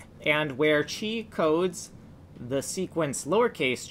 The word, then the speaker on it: chi: looks like this letter even though it's spelled c h i is pronounced chi which is why i